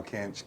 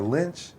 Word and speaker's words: Kinch: name right finally yeah they can't even say it right which is wild what do they say about that that's hard it's everything they just or lynch and then or finch okay they just don't